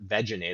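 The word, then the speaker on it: Vegenaise: It's called veganese, or veganese is apparently how it's supposed to be pronounced, which offends my ears, but that's the reality.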